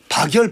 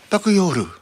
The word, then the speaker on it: 박열: 박열 발음을 못하는 거예요. 바쿠요르.